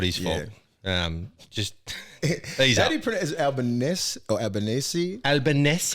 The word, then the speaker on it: Albanese: his fault um just albaness you said it's not you don't pronounce it bolognese that's that's that's how we that's how he said how to pronounce his name albaness or something like that well he's albanizing now